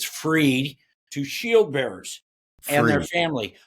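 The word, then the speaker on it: Frueh: called operator syndrome by Dr Chris free that's how you pronounce that I even asked him Dr Chris free what he did is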